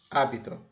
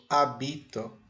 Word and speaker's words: hábito: por exemplo ó eu tenho aqui a palavra hábito hito o acento prosódico e o assento escrito está no a portanto hábito Você sabe o que é um hábito é